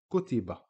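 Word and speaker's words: كُتِبَ: So kaf, dhamma makes ku, ta, kasra makes ti, ba, fatha makes ba. We put them together and we get kutiba.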